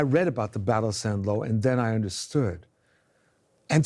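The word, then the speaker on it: Saint-Lô: mentioned the Battle of San lo which is spelled st and then ello and he would any time he mentioned son law he would lower his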